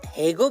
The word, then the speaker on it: Hago: I know कि आप एक रिस्पेक्टेड टिकटॉकर प्लस बालवीर की बाल सखी हो, इसीलिए आपने हागो को हेगो प्रोनाउंस किया, लेकिन इसका सही प्रोनाउंसिएशन तो यही है, HAGO, हागो।